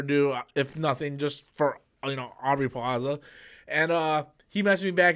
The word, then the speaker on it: Aubrey Plaza: Audrey Plaza? No, it's Aubrey Plaza, right?